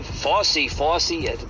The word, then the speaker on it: Fauci: the FY story FY FY that's how you say his name I can never say his name right FY uh F Au